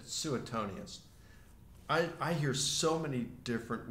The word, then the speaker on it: Suetonius: you said Suetonius. I hear so many different ways of pronouncing that name. John Ramsay, you met him, right? He's a classicist and he told me it's pronounced Suetonius, but I've heard so many other people, and